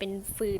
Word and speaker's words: ฟืน: ใส่ ฟืน ไป อีก ไม่ อ่าน ว่า ฟิว นะ ครับ แต่ ว่า ภาษา ไทย จะ เป็น ฟืน ครับ ไม่ พอ อีก มาก